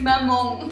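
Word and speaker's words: mamão: Et du coup, c'est un son qui n'existait pas en français, donc c'est un petit peu difficile pour les francophones de prononcer correctement le.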